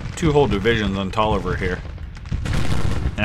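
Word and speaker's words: Taliaferro: two whole divisions on tolliver here and i believe that is how it's pronounced not talia farrow i think it's taller essex brigade pouring it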